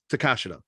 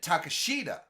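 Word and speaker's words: Takeshita: but to be fair i was calling him to takashida that's how like for years until i heard excalibur call him on a couple of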